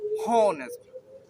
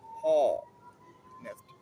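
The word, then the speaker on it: honest: তো এক্ষেত্রে বলে রাখি, আপনারা উচ্চারণটা যেভাবে করছেন, অর্থাৎ আমরা কীভাবে উচ্চারণ করছি, হনেস্ট, হনেস্ট। ওকে, এটা ও মতো উচ্চারণ আসছে প্রথমে থেকে, হনেস্ট।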